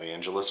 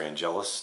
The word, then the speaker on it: Angelus: and then we have Angeles or Angelus depending on who you are and when you are in the show the pronunciation changed a few times so Vangelis we have